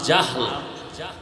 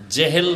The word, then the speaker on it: জাহাল: তো দুই একজনের নাম এইমাত্র তো বললাম আবু জাহাল জেহেল না জাহাল নাম হলো ইমাম বলে গাজ্জালি না গাজালি বিশুদ্ধ উচ্চারণ গাজ্জালি না আর আল্লাহ যদি কবুল করে